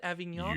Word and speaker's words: Avignon: was taking taken to the nearby hospital in avignon i think i pronounced it avignon you sure did well done uh can i